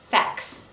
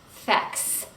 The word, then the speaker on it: facts: Facts, we have k, t, and s, but we don't pronounce all three consonants.